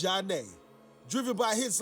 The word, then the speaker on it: Zhané: In September of 1994, Zhané released their debut album, pronounced Zhané, driven by hits like Sending My Love and Groove Thing.